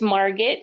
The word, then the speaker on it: Margaret: It's Margaret. It rhymes with Target.